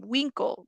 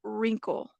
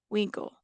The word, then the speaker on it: Winkle: yes Periwinkle violet welcome Winkle not wrinkle Winkle all right say my